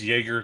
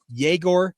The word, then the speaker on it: Yegor: So in another podcast, I call him Igor Demon, and I'm like, okay, now it's Jaeger Demon.